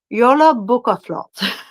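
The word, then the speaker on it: jólabókaflóð: It's pronounced Yola Bukaflot.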